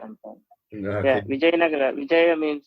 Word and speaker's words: Vijayanagara: I was pronouncing it Vijayanagar, but it's yeah. is it not? Vijayanagara Empire. Yeah, Okay. Vijayanagara.